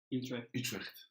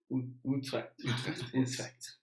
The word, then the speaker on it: Utrecht: Utrecht. Utrecht.